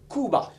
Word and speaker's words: Cuba: Jr yeah I believe it looks like Cuba but he pronounces it Kuba I believe however in